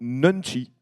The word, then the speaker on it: nunchi: Que signifie le mot nunchi dans la culture?